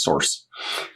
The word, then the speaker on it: src: this currently empty directory called src which we usually pronounce source and to set up